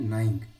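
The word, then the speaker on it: gnawing: Spelling 9, ठीक है, जी इसमें साइलेंट होता है, क्या होता है, नाइंग यानी कुतरना, बाय नाइंग द नेट।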